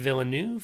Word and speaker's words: Villeneuve: So our last nominee by the DGA for theatrical film is Denis Villeneuve for Dune.